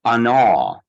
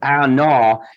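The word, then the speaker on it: עָנָו: So I see the Hebrew word that we saw applied to Moses back in Numbers is pronounced anah. Now, not like gnawing on a bone, but anah.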